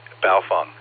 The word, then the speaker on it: Baofeng: And don't even get me started on Baofungs. And you said it correctly. Baofeng rhymes with cow dung.